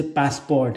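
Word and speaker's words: passeport: ये क्या है, जैसे पासपोर्ट इंग्लिश में, तो फ्रेंच में बोलते हैं पासपोर, उसको टी नहीं प्रोनाउंस करता, ये प्रोनाउंसिएशन के रूल्स में होता है भैया।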